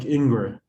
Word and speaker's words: Ingres: lot of this like ingrid and stuff like that and this is uh threat observation don't you pronounce ingress as ang or something yeah but i'm gonna americanize it for this okay english don't worry